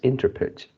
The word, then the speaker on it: interpret: is uh interpret interpret and you pronounce as interpret interpret so so the stress is four on the second series oh yeah second yeah